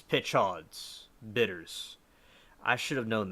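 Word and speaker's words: Peychaud's: Paya Chahons Bitters. Thanks, Mary, for the pronunciation. And cocktails first made in New Orleans in 1830s. Pitchauds. It's Pitchauds.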